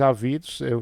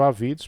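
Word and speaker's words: Avidos: Muita gente diz Ávidos, a pronúncia tem gente que chama Engenheiro Ávidos, mas realmente não tem acento. É Engenheiro Ávidos porque o seu nome não tem acento, tá bom?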